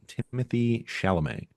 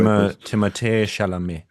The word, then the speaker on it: Timothée Chalamet: under 36 performer is Timothy Chalamet. No, Jay, you didn't say it right. Can you say it the French pretentious way? Timothée Chalamet.